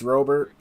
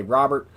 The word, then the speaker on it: Robert: Luis Robert, I'm not quite sure how you pronounce his name. I've heard announcers say Robert. I've heard people in baseball say Robert. So anyway, I believe it's Luis Robert.